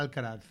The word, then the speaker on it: Alcaraz: I always say the prison when I tried to say his name. Yeah, Alcatraz. Alcatraz. Yeah, Because when I read it, I'm like, Yes. Yeah, Alcaraz. Alcaraz.